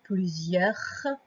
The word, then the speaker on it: plusieurs: Et à la fin, on entend le R, plusieurs. Et une lettre qu'on n'entend pas et qui marque. Donc, il y en a plusieurs. C'est la lettre S.